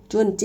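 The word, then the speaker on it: 传记: นะ เดี๋ยว เรา ขอ ทวน เสียง อีก นิด นึง นะ เอย่า พลาด เออ จ้วน จี้ นะ คะ ออก เสียง 4 ทั้ง คู่ นะ คะ เนี่ย นะ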